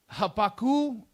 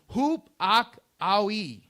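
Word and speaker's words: ὑπακοή: So there's a word, it's called, and correct me if I'm saying this wrong, it's hapaku. It's a Greek word. It's pronounced hup-ak-awi. Okay?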